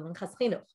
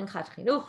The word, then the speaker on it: Minchat Chinuch: If you didn't do this mincha chinuch, by the way, it's a famous book called the Minchas Chinuch. And the Minchat Chinuch, right, depends how you say it.